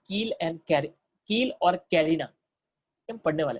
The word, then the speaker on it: carina: उनका नाम है कील और कैरिना, नॉट करीना, बॉलीवुड की हीरोइन नहीं, कैरिना, ठीक है, CARINA, कैरिना, कील और कैरिना।